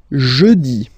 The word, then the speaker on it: jeudi: Next one, jeudi. Jeudi. Remember, when you combine this E-U, you get the sound E. Jeudi. Jeudi. So I insist a little bit, so make it softer.